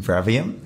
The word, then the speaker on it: Bravium: Well, we're here today with Scott Farmer from Bravium. Is that pronouncing it right? I don't know. Sure, Bravium is how we say it anyway.